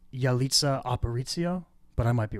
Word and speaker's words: Yalitza Aparicio: I think it's pronounced Yalitza Aparicio, but I might be wrong. Yalitza Aparicio.